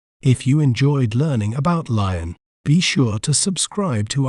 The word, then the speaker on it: Lyon: We may pronounce it as Lyon, Lion, Lyon. Lyon.